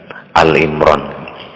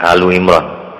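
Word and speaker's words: Ali Imran: sing sering keliru yo alu imron itu sebutannya banyak yang mengatakan al imron padahal ya alu imron yang betul keluarganya Imran sama surah Al-Mujadilah itu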